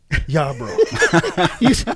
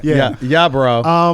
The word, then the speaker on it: Yarbro: The one and only Yarbro. You said that with a question. You have to roll your R.